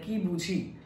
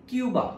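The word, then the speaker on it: Cuba: যেমন কিউবা, আমরা কিউবা বলি, কিন্তু আদতে যেহেতু কিউবা স্প্যানিশ, কিউবা কিন্তু ওরা কুবা বলে, কারণ স্প্যানিশ ভাষায় কিউবাকে কুবা।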